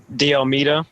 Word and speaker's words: D'Almeida: How do you pronounce his last name? D'Almeida.